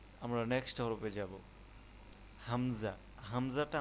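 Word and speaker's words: همزة: হামজাটা আমরা যখন উচ্চারণ করব তখন আমরা একটু জারি দিয়ে উচ্চারণটা করতে হবে। যেমন হামজা। হামজা। একটু শক্ত হবে লাস্টের দিক।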